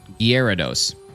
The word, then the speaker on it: Gyarados: How else would you pronounce it? Gyarados. G-Y, era, dos. Gyarados.